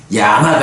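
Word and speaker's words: Yāma: 부분 볼 수 있고요 그 다음에 이제 야마라고 해서 ya의 장음이고 ma예요 그러니까 염라대왕 할 때는 야마 이렇게 되는데고 말고 야마라고 길게 발음해야 하는 야마가 있어요요 야만은 또 어디에 나타나느냐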